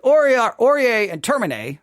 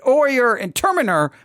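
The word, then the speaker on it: oyer and terminer: stated it incorrectly but orier and termine is the way I heard it pronounced frequently but or your intermina makes much more sense to my Texas mind all right all right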